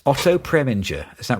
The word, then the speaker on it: Preminger: 40s uh another uh name ripe to be mispronounced Oto preminger is that right yeah preminger so Oto pringer directed this Jean TIY starred